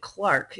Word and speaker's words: clerk: the the clerk and they would have pronounced it Clark in England I don't know why